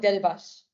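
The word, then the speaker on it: Delibaş: which is an SH. Right. So it's like Delibas.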